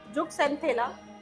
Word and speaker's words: Zooxanthellae: तो वही लिखिए, जुक यहाँ लिखा हुआ है स्पेलिंग, जुक्सेंथेला, ठीक है, इंग्लिश में लिखना चाहते हो तो लिख लीजिए ZOOXAN ZOOXANTHELLAE।